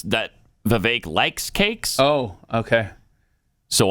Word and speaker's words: Vivek: that yeah I mean it also rhymes with fake yes it does people